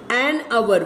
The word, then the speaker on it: hour: But if the H is very silent, that is an hour, we say an hour.